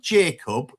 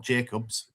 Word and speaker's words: Jacob: Not bothering to correctly pronounce Matty Jacob, not Jacobs or Joe Gelart's names.